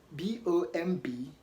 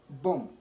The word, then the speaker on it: bomb: end of a word so like I mentioned earlier b-o-m-b has B coming after M and so the B is silent don't say bomb rather boom don't say client climb